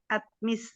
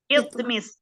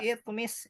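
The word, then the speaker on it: اطْمِسْ: Rabbana ya Tuhan kami atmis ya. Itmis. Oh iya. Kenapa bacanya Binasak. i? Karena huruf Keduanya atau ketiganya kasrah. Iya, Pak. Itmis, betul. Bukan Fil amr. bisa atmis nggak? Nggak bisa. Itmis.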